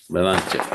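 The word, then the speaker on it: Belanche: And how do you pronounce his last name? Balanche.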